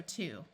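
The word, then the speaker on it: two: are to do and this word has a silent W so this word is also to this one refers to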